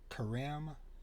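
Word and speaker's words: Karim: I'm mispronouncing this but I believe it's pronounced Kareem young k-a-r-i-m last name Young who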